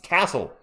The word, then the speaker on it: Cissoko: I think I missed the first free throw as a miss cuz I was stupefied by Sidy Cissoko's last name being butchered. It's It's Cissoko.